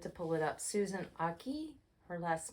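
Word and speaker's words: Ache: pull it up Susan Aki her last name is spelled a-c-h-e I think um but it is pronounced Aki like haki um she has a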